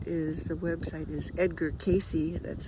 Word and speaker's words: Cayce: 30s and 40s around the work of Edgar Cayce who is known in America as the Sleeping Prophet.